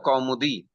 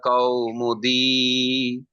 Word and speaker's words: Kaumudi: But if this same word comes in a shloka, it will be pronounced as Laghu Siddhanta Kaumudi. Long will be long. Kau, au is long. Di is long.